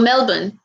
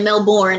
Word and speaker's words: Melbourne: melbourne well actually or melbourne i know you're not supposed to pronounce the r it's not like melbourne like we do it's melbourne right i think for australians but i really want